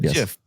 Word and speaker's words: GIF: way no he said JF JF wait he said JF he said JF like giraffe you yes me and